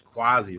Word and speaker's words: Quasi: It's Quasi, rhymes with crazy.